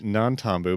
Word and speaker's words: Nantambu: up until literally yesterday, I kept calling it Nantambu without an N. Oh, yeah. I was like, wait, Tyler, I'm looking at your notes and part of these don't have it spelled with an N, and I was really confused. It is Nantambu because yesterday I was just typing stuff out.